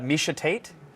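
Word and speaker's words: Miesha Tate: and it's part of the job and uh misha tate if you pronounced it wrong i would have loved that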